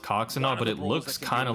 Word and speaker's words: Coxinha: Yeah, it looks like the name is pronounced Coxinha, but it looks kind of like a vagina.